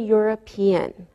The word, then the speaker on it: European: Same with a European. We pronounce the E and it sounds like a Y.